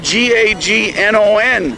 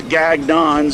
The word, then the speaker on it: Gagnon: How do you pronounce it? Gagne. Gagne, the French. I'm G-A-G-N-O-N.